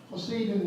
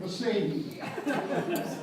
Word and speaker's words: Poseidon: First thing I'd like to do is correct pronunciation of Poseidon. Poseidon was a Greek god. His name is not a Germanic name.